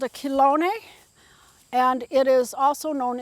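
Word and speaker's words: Chelone: But I do have one that I put in which is called a kilone and it is also known as turtle head. That's its common name. And the kilone is spelled c h e l o n e pronounced kone.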